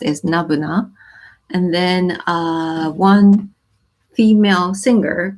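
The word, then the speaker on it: n-buna: is n - bu and and it's it's pronounced as Nirvana and then one female singer called 3c all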